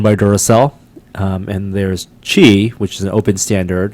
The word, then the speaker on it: Qi: basically if you have a phone that supports key which is a relatively small number chi chi okay I knew was something like that